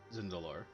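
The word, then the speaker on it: Tzindelor: She's aware of Zindalor. The T is silent, technically.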